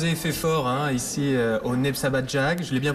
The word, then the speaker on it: Népszabadság: Alors vous avez fait fort ici au Népszabadság, je l'ai bien prononcé? Oui, tout à fait, c'est Népszabadság.